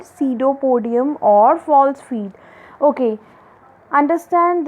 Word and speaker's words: pseudopodium: P is silent there, so we will pronounce it as pseudopodium.